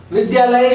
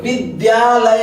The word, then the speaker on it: विद्यालय: आइए वर्ण इसमें ह्रस्वी ज्ञ और य विद्यालय शब्द विद्यालय होता है। विद्यालय नहीं होता। ध का प्रयोग नहीं होगा। द का प्रयोग होगा।